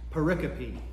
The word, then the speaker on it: pericope: Last week they mispronounced that too. It's pericope.